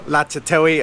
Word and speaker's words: Ratchathewi: So this is Ratchathewi, or Latchathewi as Thai people pronounce it, and I used to